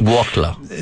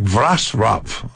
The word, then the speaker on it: Wrocław: Wroclaw. No, it sounds like Wrocław.